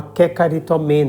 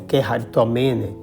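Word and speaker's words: κεχαριτωμένη: Maria foi pensada por Deus como a Kekaritomene, ou Keharitomene, depende da pronúncia aí, agraciada em sentido pleno, para ser a mãe da graça salvífica.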